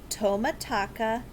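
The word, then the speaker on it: Tomotaka: Meet Tomataka Takahashi.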